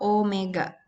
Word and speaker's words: omega: Nah, meskipun tulisannya itu mirip kayak W, memang W gitu ya, tapi dibacanya adalah omega.